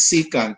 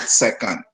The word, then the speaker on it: secant: to emphasize this that the pronunciation of secant is secant and not second as you have been taught in high schools okay it's not second